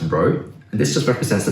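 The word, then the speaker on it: ρ: from the sample and this symbol here this is pronounced as row and this just represents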